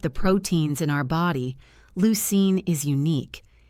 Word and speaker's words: leucine: It's spelled L E U C I N E and pronounced leucine.